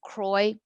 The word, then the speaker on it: Croix: and see how it's spelled with an x on the end but it's pronounced kroy like troy very beautiful here it's